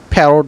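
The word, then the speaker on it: parrot: মত হবে এজন্য আমি প্যারোট বলতেছি অনেক অনেকে আবার প্যারটও বলতে পারেন তো এখানে আছে প্যারোট এখানে আমরা দেখতে পাচ্ছি ডাবল আর কিন্তু একটি আর উচ্চারণ করতেছি আরেকটা হচ্ছে মেরোরি মেরোরি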